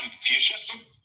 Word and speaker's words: Confucius: If I'm pronouncing it right, the Chinese philosophy, right? That Confucius.